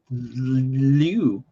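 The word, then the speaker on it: lewk: think it sounds stupid is it luke how do you say that l-e-w-k i don't think i've ever said that out loud i think i've always just seen it and well it is luke it's signature outfit or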